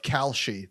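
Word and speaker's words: Kalshi: ahead um so we had tarik founder of calci that's k-a-l-s-h-i i had a lot of people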